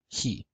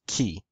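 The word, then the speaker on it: Chi: the letter Coppa later he in classical Greek is pronounced key in Koine and modern Greek is pronounced he before consonants and back vowels it makes a hard CH sound but before front vowels it makes more of an H sound in the word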